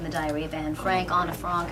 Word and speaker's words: Anne Frank: Anna Frank actually is the correct way to say it, and I was actually 13 when I did it.